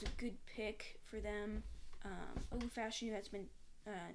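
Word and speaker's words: Olu Fashanu: Pronounce it for me, Kian. Olufashanu.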